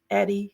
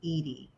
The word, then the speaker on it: Edie: I'm just delighted welcome Eddie hi nice to meet you hi Andrea it's so nice to meet you um just for clarification it's pronounced Edie Edie thank you so much